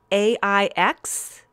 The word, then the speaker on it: Aix: You're going to have to help me with pronunciation, Jill. Cote de. D apostrophe A I X.